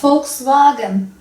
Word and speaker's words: Volkswagen: Z yani ve Almanca kökenli sözcüklerde F olarak okunuyor başka Volkswagen Volkswagen Volk halk demek bu arada